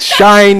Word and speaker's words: Shein: Okay, it's not that it's a shot at anyone, but on Shein, I don't know how you pronounce it, Shine, Shein, whatever. Yes, Shein.